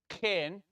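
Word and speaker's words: חן: It's in between an a or an a and an e.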